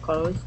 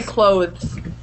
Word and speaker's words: clothes: So you don't use, because it's that where you naturally, like THS is kind of a hard sound, so you naturally just make an S sound. Clothes. I don't usually say clothes.